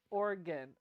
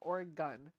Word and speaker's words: Oregon: Pamela shot production says the correct pronunciation is Oregon Oregon o-r-e-g-u-n or a gun so the gun at the end or a gun yeah